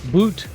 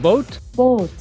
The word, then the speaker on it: boot: Dusseldorf Germany we are at boat Dusseldorf not boot what it looks like it's pronounced Boat Boat and it's the world's largest indoor Boat Show